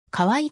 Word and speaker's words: カウアイ: 見渡すことができる現地島民は可愛いと発音しているハワイを黒か